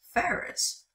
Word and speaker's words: ferrous: The way you say this word is ferrous, not whatever garbage nonsense I was saying.